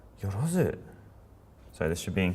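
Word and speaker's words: 万: So it's pronounced man. 1, 2, 3. One more time, 1, 2, 3. And that's man. Very good. Ah. Man. Yep, just double check there's no yorozu.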